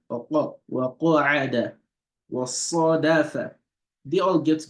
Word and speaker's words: وَقَعَدَ: Wa khasafa, or not wa ka'ada. Wa qa'ada. Wa qa'ada. You see that the qaf, it's only one that's having that heaviness when you pronounce it. And so that is tafkhim.